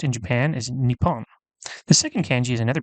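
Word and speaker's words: 日本: In this case, it is pronounced in Japan as Nippon.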